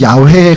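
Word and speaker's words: Yahweh: 우리 지난번에 했지만 원래이 발음은 야회에 가깝다고 이제 성경학자들이 얘기하는데 발음을 안 하다가 잊어버리니까 아도나이의 그 발음 그 모음을 차용해서 붙이다 보니까 여호와라는 발음이 나오는 거예요.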